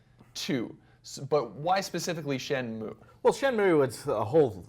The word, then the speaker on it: Shenmue: Not Shenmue, but Shenmue.